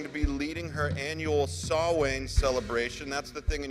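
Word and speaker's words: Samhain: is also going to be leading her annual sawing celebration that's the thing in your handout it looks like it's spelled Sam Hayne but it's pronounced sawwin and this is the annual celebration of remembrance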